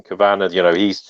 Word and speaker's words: Kavanaugh: And Kavanaugh, or however people want to pronounce it, I only say Kavanaugh because I knew someone with the same surname who years ago told me that it was pronounced Kavanaugh, but you can pronounce it however you like, it doesn't matter.